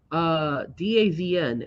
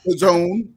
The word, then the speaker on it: DAZN: But keep in mind, DAZN. How do you say that? Daz? the zone. The Zone. Sorry, the Zone. Oh my God, Jesus, terrible. All right, the Zone.